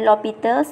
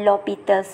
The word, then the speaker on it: L'Hôpital: So, ia dipronounce dia sebagai L'Hôpital's ataupun ejaannya kadang-kadang dieja penuh begini macam hospital, tapi S-nya disilentkan. So, dia tetap akan seakan L'Hôpital's lah.